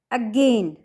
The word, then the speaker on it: again: disyllabical words such as again होता है ना बेटा, ये क्या हो जाएगा इसका again, और अब a फिर प्राइमरी स्ट्रेस है gain।